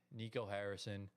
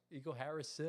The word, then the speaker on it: Nico Harrison: We still do not like Nico Harrison. I like Nico Harris. Gio, bro, say his name right. Did that just say it? Nico Harris. Nico Harrison. Oh my gosh.